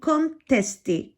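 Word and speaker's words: contesté: இரண்டாவது கேள்வி கொன்டெஸ்டே. கொன்டெஸ்டேண்டா சர்ச்சை. ஓகே, கொன்டெஸ்டே கொன்டெஸ்டே. அந்த ஈக்கு மேலே ஒரு கோடு வரும் பொழுது அதை நீங்கள் ஏ என்று உச்சரிக்கலாம்.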